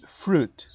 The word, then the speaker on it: fruit: Al igual que con milk, esta palabra tiene una UI, fruit, pero no pronuncian fruit, ¿ok? O fruit, o una pronunciación distinta. Fruit, fruit. La I se suprime por completo.